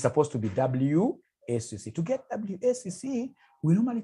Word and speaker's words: WACC: There is somebody who pronounced this as Wakaka. Wakaka, no. It's supposed to be WACC.